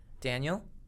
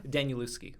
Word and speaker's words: Danielewski: So it was either Daniel or it was Stephen King. Well, I'm going to say because you got his name wrong, it's probably Stephen King. I got his name wrong? Danielewski.